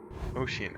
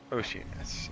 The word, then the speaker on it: Oceanus: to the next biome done ocean I think that's how it's pronounced you know they said it earlier that's cold Oceanus uh Oceanus is largely